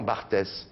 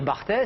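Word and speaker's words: Barthes: parle de quelqu'un et au lieu de dire Roland Bart vous dites Roland bartes parce que Roland Bart vous l'avez toujours vu écrit et vous savez pas comment ça se prononce et d'un seul coup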